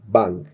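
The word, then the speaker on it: 방: Imagina algo como manga, né? Quando a gente vai ler manga em português tem ng, então é manga. Então esse NG seria a bolinha, digamos assim, no no quesito som natalizado. Então aqui, como a gente já viu, essa letra aqui é a Pap, é a letra B. Então bang bang bang bang bang que significa quarto, né?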